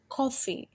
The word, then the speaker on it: coffee: many syllables coffee has coffee coffee it has two syllables cough and free but if you're careful you can hear the first syllable is longer and stressed than the second this one is a